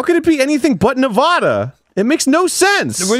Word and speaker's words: Nevada: it that no bad it's not Nevada it's Nevada wow I don't know how could it be anything but Nevada it makes no sense